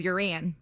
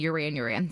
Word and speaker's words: Yuran: name, I'm always like, it's like Duran Duran, but with a Y. So a lot of people I've worked with in the past will call me Yuran.